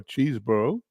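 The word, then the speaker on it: Chesbro: is trout for Canada chesboro or cheeseboro as it's properly pronounced is tied with tr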